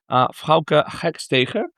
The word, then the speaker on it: Frouke Hakstege: and we're speaking with their global commerce director, Frouke Hakstege. Thanks for having me. How are you? I'm good, thanks, and well done on pronouncing the name.